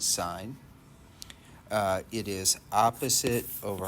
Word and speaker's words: sine: sine the abbreviation is it looks like sin but we pronounce it sine uh it is opposite